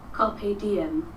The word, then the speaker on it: Carpe Diem: in the present moment Carpe Diem Carpe Diem like an Instagram DM so Carpe Diem we're